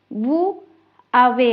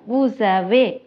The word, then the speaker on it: vous avez: இது வந்து நாங்கள் இப்போ தனியே பிரித்து கதைக்காம மோ அனிமல் என்று அப்படி கதைக்காம மொன் அனிமல் என்று சேர்த்து கதைக்கணும். வூ அவே என்று கதைக்காம வூஸ் அவே என்று சேர்த்து கதைக்க பழகணும்.